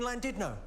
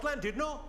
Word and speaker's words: Llandudno: This guy, front and centre, where you're sitting there, face like fucking thunder, went, it's not Llandudno, you bloody fool. It's Llandudno. In Wales, the double L is pronounced with a C.